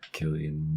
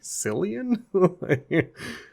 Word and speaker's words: Cillian: I say Killian Murphy is how you pronounce it, but I Okay, that sounds more correct. It's just spelled with a C and so I'm always like Silian.